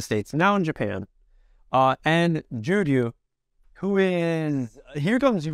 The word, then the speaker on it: Juryu: Now this one might be a little difficult for a few people to pronounce. Juryu. J-U-Y-R, oh no, J-U-R-Y-U.